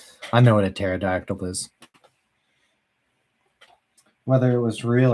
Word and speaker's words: pterodactyl: Oh, the P is silent. Oh. Oh, pterod. I was saying the P. I was saying paratactyl perodox.